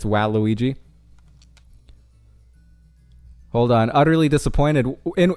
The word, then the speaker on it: Waluigi: uh ghostly ghostlin himself I learned uh it's pronounced Waluigi I believe is am I am I corrector it's wow Luigi hold on utterly disappointed in in what in